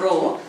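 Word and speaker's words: rho: is uh name is row r h o row it is pronounced so this row into length by area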